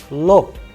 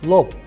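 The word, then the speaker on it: лоб: first example here is the word lob, lob. However, the word is ending with be, but the sound is coming off pe at the end. So the pronunciation is lop, pa at the end, lop, which means forehead.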